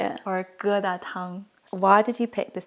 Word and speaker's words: 疙瘩汤: Or geda tang.